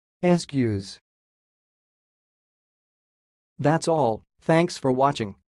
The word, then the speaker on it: Eskew's: how pronounce this word the pronunciation of this word is sounds like excuse excuse and I will repeat again but slowly ask use ask use that's all thanks for